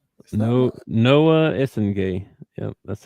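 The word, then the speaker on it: Essengue: It says the GUE portion at the end is pronounced like gay in French with a soft G sound.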